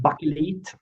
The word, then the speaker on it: Bakelit: And bucket that's the way we pronounce it in Swedish.